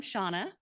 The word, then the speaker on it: Seanna: all the time because it is spelled wonky but it's Irish and there's nothing there's no good rules with Irish so um I am